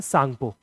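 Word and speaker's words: Tsangpo: China में इसको जाना जाता है एक स्पेशल नाम से जिसका नाम है सांगपो। टी साइलेंट है। सांगपो नाम से जाना जाता है।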